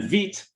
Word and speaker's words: Vite: And then Vite, which is pronounced Vite because it's like the French word for fast, not Vite.